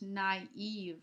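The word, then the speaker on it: naïve: you it means that you need to pronounce the two vowels separately instead of smooshing them together so this is no l not n we use this word in English naive all right instead of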